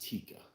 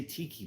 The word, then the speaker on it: Tikka: I think it's pronounced Tikka Masala. But some people still say tiki because of tiki bars or tiki torches.